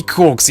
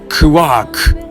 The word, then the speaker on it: quark: quarks for master mark and there were three corks in his model anyway that's the term that